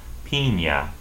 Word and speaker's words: piña: The word for pineapple, to make a pina colada, as we say in English, is pronounced for pineapple, piña.